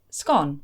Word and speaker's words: scone: we say the word scone. Some people say that it ought to be pronounced with the long O sound, whereas others feel it should be pronounced as scone with the short O.